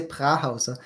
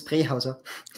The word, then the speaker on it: Prähauser: You always say Prähauser, and it's very funny, but it's Prähauser. Prähauser, okay. That's right, the umlaut makes it closer to a short E sound in English.